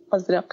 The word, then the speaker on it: Azraq: They, now, correct my pronunciation again. So Zaatari and Azraq. Azraq, yes.